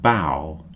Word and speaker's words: bow: The next group are pronounced ow, ow. Plough, drought, and bow.